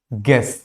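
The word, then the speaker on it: guess: यू, अगर यू आपका जी के साथ कभी भी आता है, फॉर एग्जाम्पल गाइड, गेस, तो यहां पे भी यू क्या होता है? साइलेंट होता है। अगर कभी भी इस तरह से आपको देखने को मिले तो it means you is silent.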